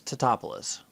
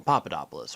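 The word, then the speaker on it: Tatopoulos: character's last name wrong it's tetopolis but everyone seems to call him papadopoulos or something this guy goes on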